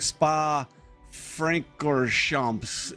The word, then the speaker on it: Spa Francorchamps: YouTube channel, and it's like, so it's very French, right? It's Belgium, but it's a very French word. So it's like Spa Francorchamps is basically how they do it.